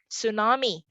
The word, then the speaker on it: tsunami: one out still a tsunami b mnemonic c psychology d schizophrenia the answer is very obvious three out of these four choices would have silent letters in the start obviously those are letters